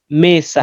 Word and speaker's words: mesa: Mesa, not Lufunda. mesa. Lufunda Be nalande. a bit slow. Lufunda nalande mesa. Okay. Don't prolong mesas. Mesa. No, mesa. Don't prolong it.